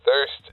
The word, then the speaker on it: THRST: them yeah uh th so thirst was just I came up with thirst but T R st t hrst it's kind of cool the way it's spelled I get a lot of people saying first coffee and after the third